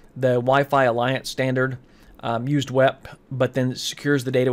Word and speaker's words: WEP: WEP, or wired equivalent privacy, and it's pronounced WEP, and that's what you'll, in industry, you'll hear somebody say WEP.